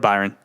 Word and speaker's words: Byron: his day job yeah i did say brian first because i had a little lord uh brian i had a little laugh laughs i was actually pretty stunned that you mispronounced the word right there that you've been pronouncing correctly all afternoon we're doing lord byron